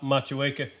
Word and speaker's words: Motueka: Machueca, can't speak highly enough about the hop. Yeah, Machueca. Thank you very much for pronouncing it correctly, because we were trying to